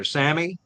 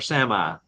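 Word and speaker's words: Sámi: of their blank okay the indigenous people is pronounced two different ways depends on what part of the world you're in it's either Samy or Sami that's the people that's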